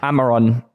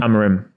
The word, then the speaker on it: Amorim: Dom was that Dom someone say his name please alarin Amarin Amarin first an m at the endar amarim amarim yeah it's an m r Rim a rim yeah I thought it was an N no